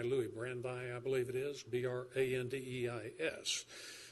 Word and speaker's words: Brandeis: You may be, I probably will mispronounce the gentleman's name, but you've read his name, and perhaps you can pronounce it better than I, Louis Brandeis, I believe it is, B-R-A-N-D-E-I-S, who said, in